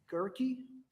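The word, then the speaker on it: Guerke: street okay and was that sergeant is it pronounced gurkey sergeant gurkey correct okay and that's spelled g-a-u-e-r-k-e correct i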